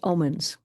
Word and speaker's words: Omens: And her name is pronounced Omens. And the way that I remember it, she's a good Omen.